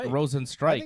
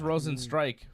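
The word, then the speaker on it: Rozenstruik: striker stroke yeah strike i believe it's rows and strikes yeah no no it's pronounced rosen strike from what i understand holly in england they say stroke all right aj who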